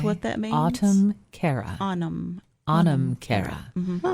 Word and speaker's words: Anam Cara: Anam Cara. Spell that. A-N-A-M. A-N-A-M. A-N-A-M. Anam Cara.